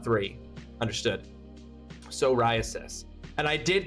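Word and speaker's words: psoriasis: No, it's not pronounced that way. Soriasis. Soriasis. Okay. Okay. The the I and the A are not part of the same syllable. They are they are differentiating two syllables. It's four syllables, not three.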